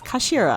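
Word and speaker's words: 頭: A student's head is Japanese, but it's pronounced as Kashira, I believe.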